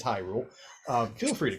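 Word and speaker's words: Hyrule: Here in He Rule, you notice, of course, he's pronouncing these wrong, in case any of you are wondering. Yeah, high. Because it's High Rule.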